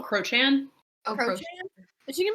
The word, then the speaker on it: Crochan: is she gonna be like part Cochrane? Is it Cochrane? How do you say it? Like Oh, Crochan.